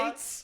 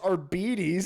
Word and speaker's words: Arbites: were just like, yeah, this is how they're pronounced. And we're like, Oh, yeah. We're like, The no, it's not. Arbites. Oh, yeah. Yeah, they're like, yes, the Adeptus are beaties.